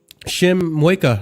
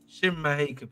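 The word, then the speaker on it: Shim Mheuka: Can you say it right, please, if you don't mind? Lead by example, please. Shim Maheka, please. Thank you. Oh, Shim Maheka.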